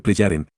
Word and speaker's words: Plejaren: Es un hecho que no fue Billy el que solicitó estos contactos, sino que fueron los Plejaren, pronúnciese Plejaren, quienes le exhortaron a tenerlos, a consecuencia de una tarea de miles de años de antigüedad.